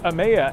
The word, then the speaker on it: Emeya: It's pronounced Emeya, and I figured we'd get that out of